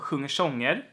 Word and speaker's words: sjunger sånger: So when you have a word ending on an R, and the next word is beginning with an S, then you can have this sound is also used.